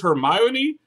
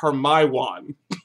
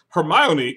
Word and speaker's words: Hermione: I didn't know it was Hermione.